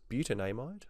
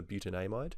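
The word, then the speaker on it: butanamide: mind moving on now this is butan a might or beaut an amide depending on your pronunciation I always prefer buta name ID because it's consistent with the way I'm pronouncing all of these things our final example is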